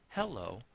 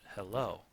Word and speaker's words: hello: we don't pronounce it hello we pronounce it hello most commonly we can of course pervert that but the common pronunciation of hello is the includes the emphasis on the second syllable most names are like